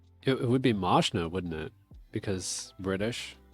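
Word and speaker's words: Mazchna: It's M-A-Z-C-H-A-N-A, but it's Mashna.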